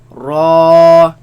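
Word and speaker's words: ر: Lam, Noon, Ra, Raise the back of the tongue. Make it heavy. Ra, Ra.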